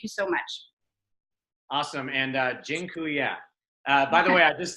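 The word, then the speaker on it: dziękuję: life so thank you so much awesome and gin Kuya by the way I just taught you all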